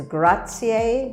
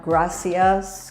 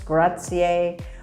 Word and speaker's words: grazie: and thank you is grazier it's not gracias gracias is spanish it's grazier one thing to remember about the italian language is that italians never miss a vowel vowels are all always pronounced they rarely rarely just